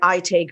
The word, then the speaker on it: Aite: It's by ITE Group. If you want to look them up, it's spelled AITE, ITE Group.